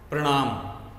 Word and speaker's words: प्रणाम: प्रणाम, इसमें प के नीचे र लगा है और ऐसे र का उच्चारण मुख्य वर्ण के बाद में आता है, प के बाद में आएगा, जैसे प्रणाम।